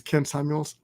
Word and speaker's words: Ken Samuels: rhymes with Kevin Samuels my name is Ken Samuels rhymes with Kevin Samuels okay no joke no